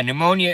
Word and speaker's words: pneumonia: Yeah, pneumonia is not easy to spell. You will rue the day that you cross me, Silent P in pneumonia.